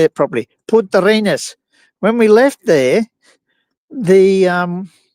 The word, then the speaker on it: Punta Arenas: And we also got that covered with when we left Punta Arenas, I should say it properly, Punta Arenas.